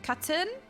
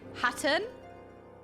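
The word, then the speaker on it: Khatun: Katun? No, they don't pronounce the K's. Sadu Hatun?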